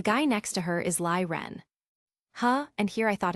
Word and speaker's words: Lie Ren: "And the guy next to her is Lie Ren." "Huh, and here I thought his name was Renie." Jon mused. "Wait like a lion." No, it's pronounced Lee Ren, although nice pun.